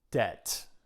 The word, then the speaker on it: debt: Debt. We don't pronounce the B.